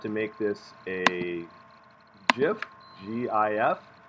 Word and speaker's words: GIF: make this a gif gif pronounced as in peanut butter jif that doesn't sound right but it is and you get to